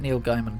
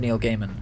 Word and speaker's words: Neil Gaiman: is it it's that neil gaiman comic or gaming i always say his name wrong it's neil gaiman isn't it um sandman he did